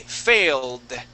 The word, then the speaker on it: failed: And when we add an ed there, how would we pronounce that ed? She did first time. Uh, okay. We would say failed. Failed. Failed. Okay. So, we'd go right to that d sound.